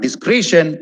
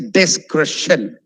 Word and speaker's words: discretion: It's not discretion, it's discretion. Discretion. Discretion. Okay?